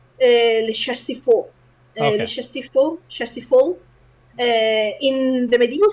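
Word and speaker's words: Le Chastiefol: No, I'm going to say Chastiafoil. Chastiafoil? It should be more or less like Le Chastifol.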